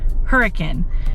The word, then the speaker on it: Hurricane: And I did just learn that I have been pronouncing that wrong. I've been saying hurricane because that's how it's spelled, but a local told me, do not pronounce it that way. That's not how it's pronounced hurricane.